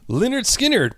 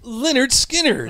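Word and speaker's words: Lynyrd Skynyrd: on he almost relied too much on production Leonard skinnard pronounce Leonard skinnard I know again a goofy anyway it's uh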